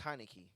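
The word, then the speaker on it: Heinicke: um use uh damn his name rhymes with monica so i'm gonna say meineke i think i think his name is heineke yes but um they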